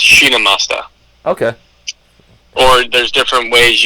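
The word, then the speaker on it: Chhinnamasta: Yeah, it's there's a few different ways to pronounce it, but the way that I put it in Google and had the audio played just so make sure I was saying it right. But it's basically just Shinamasta.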